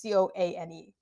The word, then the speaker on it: Coane: television series by Jim Cohn. I hope that's how you pronounce the last name. It's Coane.